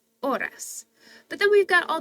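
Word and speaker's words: horas: make sense anyways so we know the AES aren't going to be pronounced so it's not Hoy hey and Horus it's o i oras but then we've got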